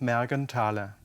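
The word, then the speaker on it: Mergenthaler: Otto Morganthaler Amar Morgan Thaylor Ludwig Morgan Taylor the th is not pronounced it's just Margan Tyler he was a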